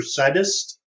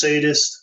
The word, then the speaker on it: sadist: Can anyone tell me whether it's pronounced sadist or saddest? God. Now try to attack the emperor. Sadist. So it is sadist.